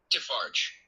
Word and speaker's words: Defarge: Madame Defarge, uh, one second, let me check the correct pronunciation of Defarge.